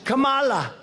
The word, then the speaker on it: Kamala: had to interrupt him no my name is Kamala like Kama I remember that like